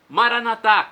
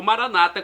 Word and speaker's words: Maranata: E agora do aramaico eu clamo: Maranatá, como dizemos nós católicos, ou Maranata, como dizem nossos irmãos separados, os evangélicos ou protestantes. Não importa a pronúncia, o significado é o mesmo.